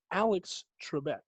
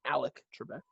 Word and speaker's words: Alex Trebek: you had it right it's alex trebek it's not alec trebek he's not a baldwin